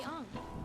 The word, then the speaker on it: Aang: The monks named me Ang.